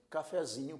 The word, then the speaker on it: cafezinho: Quando nós acrescentamos o sufixo zinho, a sílaba tônica passou a ser zi, e a sílaba que era tônica original é fé.